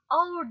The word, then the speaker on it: hour: Peki hour diye mi okuyoruz, hour diye mi okuyoruz? Tabii ki de sesli bir şekilde hour diye okuyoruz.